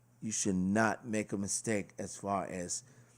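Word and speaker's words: Maj: Now, the next track we're going to start out with is called Ma. It's M-A-J. I think the J is silent, so we're just going to say Ma.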